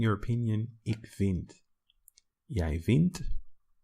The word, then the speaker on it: vindt: Jij vindt. You add the T, even though there's already a D. Pronunciation doesn't change, but the spelling does.